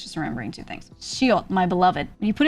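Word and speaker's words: 시옷: When it's at the end, you just stop the sound as if you're about to pronounce an S, but you're not pushing any air out.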